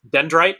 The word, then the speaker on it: Dyndrite: dite how do you say it so it's pronounced dendrite and I purposely make companies that are impossible